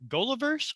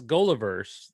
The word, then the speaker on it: Goliverse: i mess it up is it gulliverse or gulliver's well i it's goliverse yes i mean that's the way i started pronouncing it that stands for the geek out loud universe so yeah gol